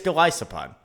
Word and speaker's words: Golisopod: It is Glisopod. People, and for a long time, or a couple months at least, myself included, said Glisopod.